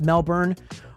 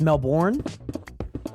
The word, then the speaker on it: Melbourne: for the posture check not pronounced Melbourne um it's pronounced Melbourne I've always heard it as Melbourne but I guess you are the Australian you know what I